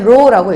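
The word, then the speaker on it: rho: 그리고 읽을 땐 row라고 읽죠. 그쵸?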